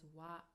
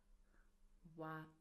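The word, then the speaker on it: は: So as you can see, we write it as hiragana ha, but we pronounce it as a particle as wa, wa.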